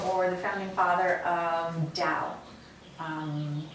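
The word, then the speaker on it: Tao: the founding father of dao um sometimes it's pronounced dao but it's spelled t-a-o um i find that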